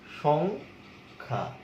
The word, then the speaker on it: সংখ্যা: যেমন তুমি একটা শব্দ দেখো সংখ্যা, সংখ্যা, এখানে কিন্তু অনুস্বার আছে সং, তাহলে এখানে উচ্চারণ কিন্তু কিভাবে হচ্ছে, সং, সংখ্যা, এইভাবে উচ্চারণ হচ্ছে সংখ্যা, তোমার অনুস্বার কোনো উচ্চারণ হচ্ছে না, অনুস্বার এরকম কোনো উচ্চারণ আমরা পাচ্ছি না।